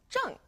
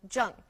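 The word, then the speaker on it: zhèng: and then we have Jung Z h e n G junk now don't forget to pronounce the G on Jung it's Fourth tone as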